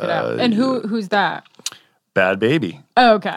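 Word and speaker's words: Bhad Bhabie: It's Bad Baby. Why did I think her name was Bad Barbie? A lot of people do. Okay. I thought that initially as well, but it's just the way it's spelled because there's H's in there and people just want to know.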